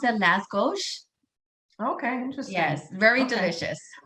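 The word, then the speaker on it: lángos: it's l-a-s-g-o-s i believe oh yeah so they pronounce it las gauche okay interesting yes very delicious but it looks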